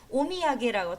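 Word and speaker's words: お土産: 같은 거를 대부분 말하는데 오미야게라고 토산이라고 읽지 않습니다. 오미야게라고 읽을 거예요.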